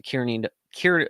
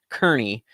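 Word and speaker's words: Kearney: to make it in under 24 hours to Kier Kier uh Kerney I've just been told lately that it's called pronounced Kerney um in Nebraska and that's going to be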